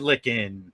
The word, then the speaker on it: Lykken: my mispronouncing your name it's licken right it is yep finger-lickin chicken like it takes a